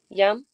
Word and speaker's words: Yam: So how would you pronounce it? Yam. Yam. Excellent.